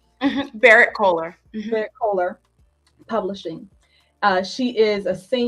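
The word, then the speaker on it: Berrett-Koehler: which will be released by, how do you pronounce that? Barrett Collier? Barrett Kohler.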